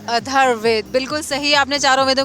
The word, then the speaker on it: अथर्ववेद: सामवेद, ऋग्वेद, अर्धवेद और यजुर्वेद। बिल्कुल ठीक कहा। थोड़ा सा प्रोनाउंसिएशन में प्रॉब्लम है, लेकिन आपने बिल्कुल सही कहा है। ऋग्वेद, सामवेद, यजुर्वेद और अथर्ववेद, बिल्कुल सही आपने चारों वेदों के नाम बताए हैं।